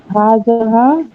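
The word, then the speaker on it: هَٰذِهِ: আর হাজ হাজাহা তাই হাজিহি শব্দটা হাজিহি, হাজাহানা। জাল নিচে যে। কারণ এটা হচ্ছে মুয়ান্নাস, তাই না? না, আপনার হাজিহি শব্দটা উচ্চারণ ভুল করছেন, আপনার হাজাহা পড়তেছেন।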